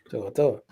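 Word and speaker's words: To'oTo'o: saw the emergence toour of my boy Henry to to Henry Henry went from Noah Noah to to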